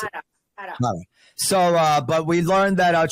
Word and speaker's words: Harra: How do you pronounce it? Harra.